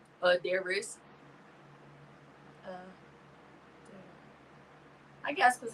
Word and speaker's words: Adairess: Adairess. Y'all can say Mercedes and Porsche and shit. I feel like you're missing some letters in your name. Adairess.